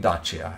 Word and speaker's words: Dacia: factory uh datsia i let's call it dacha as i would uh call it i think that's uh the proper pronunciation um or i think british english americans would say dacia or datsia or whatever uh this car